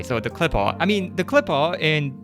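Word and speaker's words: Qliphoth: I'm going to call it Clippot from now on. It's another pronunciation of the same word, but it's just much easier for me to say. So the clipaw I mean the clipaw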